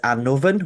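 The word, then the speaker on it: Annwfn: So my personal preference is Anovven with the F because I feel like it conjures up a bit of an insight into what kind of place this is. Um whereas the Anon spelling is more specifically popular within um modern colloquial kind of culture here in Wales.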